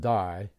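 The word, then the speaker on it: δεῖ: screen look at it Delta Epsilon iota a three-letter Greek word pronounced die by the way and Nicodemus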